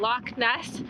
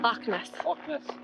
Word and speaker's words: Loch Ness: I'm really trying but I know that what the CH is not supposed to be a hard cup at more like a like a lock like you kind of